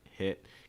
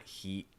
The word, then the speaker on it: hit: word here that or a sound here can be a little tricky for a lot of students is that hit sound with that short eye hit hit keep in mind it's not heat it's not heat it's a short ice like hit hit you need to